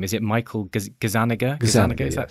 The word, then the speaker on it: Gazzaniga: PhD student and I don't know how to pronounce his name is it Michael Gazzaniga Gazzaniga that's right working on split brain patients how